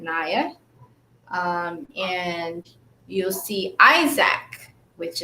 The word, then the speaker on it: Nia: I'm gonna say Nia because it's spelled Nia, Nia, but I pronounce it Nia.